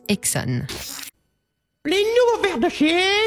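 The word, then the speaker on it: Esso: Désormais, on l'appelle par ses initiales, SO, qu'on prononce Exxon.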